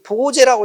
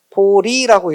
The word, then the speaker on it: 보리: 어, 근데이 제자는 원래 제한한다고 할 때 제자예요. 어,이 보제라고 읽으면 안 돼. 응. 보리라고 읽어야지.